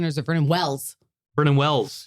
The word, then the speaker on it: Vernon Wells: Vernon Wells, yes. Like Wellington.